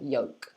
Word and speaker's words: yolk: cup you're saying yeah so if you can say that then you say yolk okay so this is